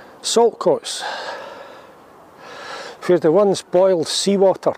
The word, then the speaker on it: Saltcoats: Although I suspect sometimes in pronunciation the T is dropped and you would never think that the word salt was in there.